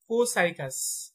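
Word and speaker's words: Copsychus: বৈজ্ঞানিক নাম হচ্ছে এখানে পি এর উচ্চারণটা সাইলেন্ট থাকবে এটা হবে কোসাইকাস কো সাইকাস পি এর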